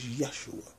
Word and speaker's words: Yeshua: I had to add 47 because the Messiah, Yeshua, people call him Jesus. And I only use the word Jesus because people are so used to calling him that, when the pronunciation of his name is Yeshua.